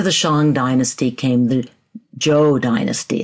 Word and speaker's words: Zhou: gods now after the Shang Dynasty came the Joe Dynasty it's actually pronounced Joe I'm told even though it's spelled z h